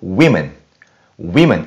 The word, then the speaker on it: women: 여자를 뜻하는 한 명일 때는 woman 이런 느낌이라면 복수를 뜻할 때는 워가 아니라 we, I 발음을 내셔갖고 women 이라고 얘기하신다는 발음상의 차이도 기억하시면 좋을 것 같아요.